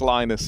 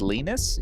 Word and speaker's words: Lenus: you noticed that since lonus has stopped playing we've had so many Tech timeouts I think it's pronounced lenus he's Swedish lenus on these nuts what